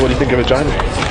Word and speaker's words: Regina: So what do you think of Regina? Rhymes with fun.